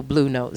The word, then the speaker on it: Blou Note: And I put that together as Blue, which is why it's spelled B-L-O-U.